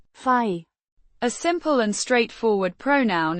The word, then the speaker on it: we: We means we or us, the first person plural pronoun, pronounced as fai.